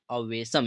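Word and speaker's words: awesome: सा भी वर्ड आए उसका लास्ट में अगर ई मिल जाता है तो उसका कोई भी उच्चारण नहीं करते हैं ठीक है वो हमारा क्या रहता है ई साइलेंट रहता है ठीक है तो इस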